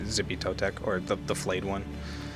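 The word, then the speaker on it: Xipe Totec: It's I just usually say Zippy Totec or the flayed one. I think X's are like CH noises or Chippy something.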